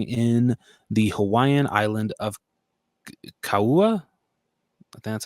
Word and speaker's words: Kauai: planet Earth, crashing in the Hawaiian island of Kauai. I think that's how you say it. Kauai.